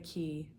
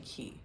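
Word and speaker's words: Cay: We went to the Key, Castaway Key. And it looks like K, but it's actually Key because that's how they say it.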